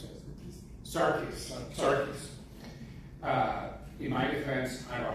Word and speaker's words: Sarkis: How do I pronounce it? Sarkis.